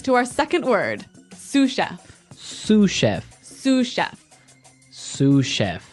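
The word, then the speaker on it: sous-chef: Sue chef. Sue chef. Sue cheef. S o u s. So the s is silent because it's like a French word.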